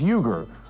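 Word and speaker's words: Uygur: Second name, surname is Yuger.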